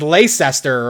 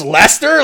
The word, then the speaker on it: Leicester: I was like, no, I read it as Leicester or whatever, and it's like it's pronounced Leicester.